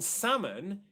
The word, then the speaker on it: salmon: So Manny has asked, how do you pronounce the two words salmon and salmonella? So good question. In salmon, it is a silent L, Manny.